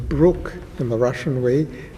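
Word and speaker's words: Bryk: So my father said no no no b r y in Russia it's pronounced brookke.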